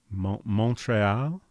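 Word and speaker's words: Montréal: The English and French pronunciations of Montreal were so different. When I was growing up, I thought they were two different places. H. What's the French pronunciation of that? Montreal.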